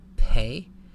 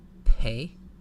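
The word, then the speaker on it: פא: this letter is a pay it sounds like the English letter P pay as you may have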